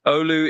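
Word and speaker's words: Oulu: This one is Scopia, Sweden going to Ulu, Finland. U LU. Did I get that even close to right, Miles? You got it pretty close. Olu is indeed how you say it.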